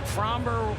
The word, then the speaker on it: Framber: makes him very difficult hit framber rhymes with somber by the way and